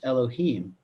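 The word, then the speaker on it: אלהים: letters you know hey Bobby but it is pronounced Elohim okay now remember if we're talking about a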